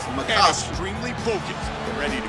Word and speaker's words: Makovsky: Makovsky is his name. That's how you pronounce it. Makovsky.